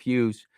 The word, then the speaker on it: Hewes: And I just think that, people like Joseph Hughes, and it's spelled Hewes, by the way, people like him need to be remembered.